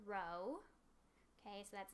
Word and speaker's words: Rho: is the Greek letter Rho okay so that's not a PE that's not a P it's it's a Greek letter and it's pronounced Rho okay and that's gonna